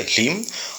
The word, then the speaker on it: ह्लीं: यहाँ जो ह्लीं शब्द है इसके भी 3 तरीके के पाठ उपलब्ध होते हैं। एक होता है ह्रीं या ह्रीं, जो मैंने उच्चारण किया है वो है ह्लीं, और बहुत बार इसके शापोद्धार की मान्यता के अनुसार ह्लीं में र जोड़ देते हैं, यानी ह्रीं कर देते हैं।